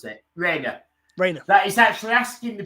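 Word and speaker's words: Rayner: How do you pronounce it? Rainer.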